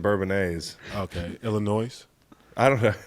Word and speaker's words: Bourbonnais: Are you doing a non-silent S thing today? What's that? Just the Illinois and Bourbonnais.